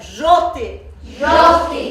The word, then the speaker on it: желтый: Так, ребята, в русском языке «ж» произносится очень твердо. «Ж». А на монгольском языке очень мягко. «Дж». Вы прочитайте «желтый» — это монгольский. «Ж» твердо, очень твердо произносится. Еще раз прочитаем. «Желтый».